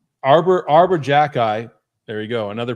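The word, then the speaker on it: Xhekaj: a bad hockey team no they're not Arbor Arbor Jacky there we go another pronunciation correct uh he's a f I wish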